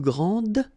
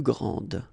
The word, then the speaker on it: grand: elles sont les plus grandes. Okay, so phonetically what you can hear is that this first form here for the masculine, grand, so you don't pronounce the final D, will be exactly the